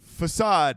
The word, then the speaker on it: façade: It's façade, not facade.